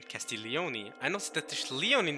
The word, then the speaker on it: Castiglioni: I remember to uh I learned to not uh pronounce g in the name castillioni I know status Leon